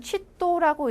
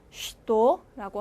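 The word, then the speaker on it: что: 근데 최자가 실제로는 원래대로라면 취도라고 읽어야 하지만 쉬라고 읽혀요. 그래서 쉬도라고 하면 무엇이 되겠죠.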